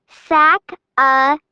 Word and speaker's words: Sacagawea: She has a fancy name, Sacagawea. You say it like this, Sac-a-ja-way-a.